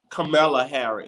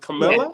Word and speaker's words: Kamala Harris: And but actually, I want to speak on Michelle Obama and, is I'm pronouncing her name right, Kamala Harris? Kamala Harris. Is it Camilla?